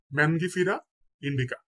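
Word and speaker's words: Mangifera indica: কর্কোরাস ক্যাপসুলারিস কর্করাস ক্যাপসুলারিস আমের বৈজ্ঞানিক নাম হচ্ছে ম্যানগিফেরা ইন্ডিকা ম্যানগিফেরা ইন্ডিকা আমের বৈজ্ঞানিক নাম ম্যানগিফেরা ইন্ডিকা কাঁঠাল কাঁঠালের বৈজ্ঞানিক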